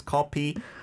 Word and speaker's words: 커피: We don't have an F sound in Korean, right? So it's coffee 한 잔.